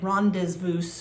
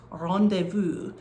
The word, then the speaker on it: rendezvous: It looks like rendezvous, right? It's one of those French words that has a bunch of consonants in it that we don't pronounce, but it is pronounced rendezvous.